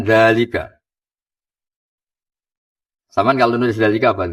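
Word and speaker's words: ذلك: Tapi baca dalnya panjang enggak? Panjang bacanya kan dalika.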